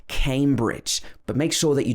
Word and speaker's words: Cambridge: say bridge it's bridge and came at the beginning like you came to cambridge i guess you can remember it like that cambridge another place in scotland